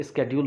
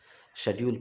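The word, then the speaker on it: schedule: इसे देखिए, बहुत लोग स्केड्यूल पढ़ते हैं, आजकल चलन में ये प्रोनाउंसिएशन आ गया है, लेकिन डिक्शनरी जब आप देखेंगे शेड्यूल पढ़ते हैं, इसे ध्यान रखिएगा आप, ठीक है, यही प्रोनाउंसिएशन सही है।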